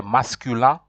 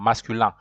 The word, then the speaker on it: masculin: to pronounce, you say masculin, and then feminine, it is femina, femina, masculin. IN, when I and N meets, it gives a pronunciation of A.